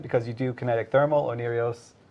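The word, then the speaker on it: Oneiros: Onirios, I'm pronouncing it correctly, by the way.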